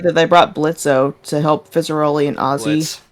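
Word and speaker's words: Blitzø: Yeah, I also like that they brought Blitzo to help Fizzaroli and Ozzy during that episode. Yeah, you're dead naming him. Yeah, I'm used to saying Blitzo. Yeah, Blitz. The O is silent.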